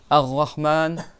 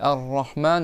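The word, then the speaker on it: رحمن: C'est pas dit Arrahman avec la gorge rahman ça ressemble non c'est rahman avec le bout de la langue et il faut que le bout de la langue il touche derrière les dents du haut en a ils ont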